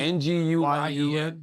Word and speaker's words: Nguyen: uh another guy named Alex Ocho and George Nguyen. How do you pronounce it, Chris? Is it is Nguyen a Vietnamese name? N G N G U Y E N Nguyen is closest, yeah.